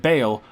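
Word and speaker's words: Baal: Lord Of Terror and Bale Lord of his name is definitely not pronounced ball and in fact it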